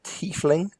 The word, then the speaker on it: tiefling: we go on to tiefling which Posey's is range remember is it's like a thief but with less h's or titling or not